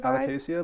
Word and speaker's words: Alocasia: Alocasia vibes?